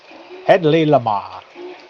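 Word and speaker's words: Hedley Lamarr: Headley Lamar.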